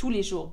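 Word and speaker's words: tous les jours: every day okay - Li Shu but I don't pronounce the S - I however if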